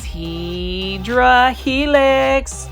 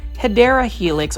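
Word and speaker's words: Hedera helix: Hedrah helix or the correct way to say it. Say it with me as well. Hideera helix or the English ivy.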